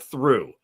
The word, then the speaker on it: through: I mean you went through something. You don't pronounce You don't pronounce the G. You don't pronounce the H.